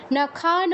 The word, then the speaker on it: নাখান: না কি হবে নাখান হসন্ত থাকা মানে ওই অক্ষরের সাথে যেই স্বরবর্ণটা আছে সেটার উচ্চারণ হবে না তো আমাদের ন এর শেষে যেই অটা আছে সেটা আমরা উচ্চারণ করবো না কি হবে না